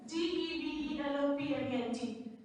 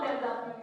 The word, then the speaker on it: development: So one thing I just want to do, there was a word, DEVELOPMENT. I usually saw people pronouncing it development. It's not development, it's always development. We pronounce DEV as DIV.